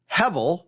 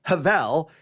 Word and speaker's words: Hebel: It's called it's just the Hebrew word, Hevel or Havel. It's spelled Hebel.